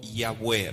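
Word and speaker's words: Yahweh: a poner aquí y es la forma correcta de pronunciar el nombre del creador no hay ave y ave es incorrecto porque ya ve estaremos usando una forma moderna pero el nombre fue revelado como yagüe recuerden que cuando fue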